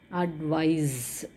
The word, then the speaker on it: advise: Okay, so in that case it is a noun, whereas here it is actually advise.